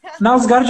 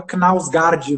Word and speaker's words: Knausgård: Nausgard é legal. Eu ficava com a mania, o que me travava era querer pronunciar o K. Eu ficava Knausgard, mas não, tá.